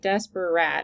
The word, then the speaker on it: desperate: So I know if you looked up in the dictionary, desperate would be 3 syllables, but we don't say them all. We just say desperate.